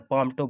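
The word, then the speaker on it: palmtop: इसमें एल को उच्चारण नहीं करते हैं। ठीक है दोस्तों, एल साइलेंट रहता है, पाम टॉप बोलते हैं।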